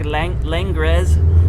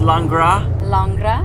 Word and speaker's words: Langres: it should be runny ours is it's called langra and that's l-a-n-g-r-e-s and it's a cow's milk cheese from france from champagne but so it looks like lingres but it's pronounced landra and uh my cheese name at one point